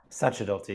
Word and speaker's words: Sacerdoti: Um, Sakadotti, is it Sachadotti or Sakadotti? Satchotti is a is a good English approximation.